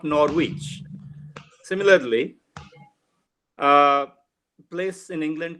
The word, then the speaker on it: Norwich: corrected me and said do you mean Norwich Norwich so it is not Norwich similarly a place in